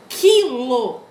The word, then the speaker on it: quilo: O mesmo com QU. Quando eu falo quilo, esse Q com U é dígrafo, tá? Percebam que eu não pronuncio o U. Dá a impressão de que foneticamente é um K com I, né?